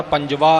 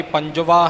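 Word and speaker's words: ਪੰਜਵਾ: अंक लिखिया है इसली देवगंधारी पंजवा ही इसका उच्चारण होवेगा देवगंधारी पंज जा देवगंधारी पंजवी नहीं य ख्याल रखना पंजवी पातशाह दे उच्चारण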